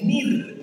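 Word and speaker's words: ניר: La palabra lámpara es una palabra hebrea, se pronuncia algo así como nir, N-I-R, y esto me explotó la cabeza.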